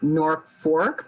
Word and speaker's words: Norfolk: ever really discussed this you pronounce it nor fork but it's spelled n-o-r-f-o-l-k right yeah um here's